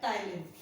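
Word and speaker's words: ptyalin: जब उसके ऊपर सलेवरी अमाइलेज, इसका दूसरा नाम होता है टाइलिन, P is silent, salivary amylase या टाइलिन एक्ट करती है तो ये कन्वर्ट हो जाता है माल्टोज में।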